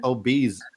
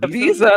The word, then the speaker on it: Ibiza: to have the season finale episode 11 at obese it's funny because tequila yeah tequila makes fun of of how i say ibiza did i say obese how do you say it is it ibiza that's how you say it okay yeah i